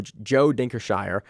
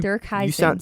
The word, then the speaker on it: Heising: like Van Helsing, but Dirk Heising.